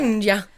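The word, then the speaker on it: Chioggia: They don't pronounce G's, so They don't pronounce G's. They don't really. Chiggia. How would you pronounce it? Chinja.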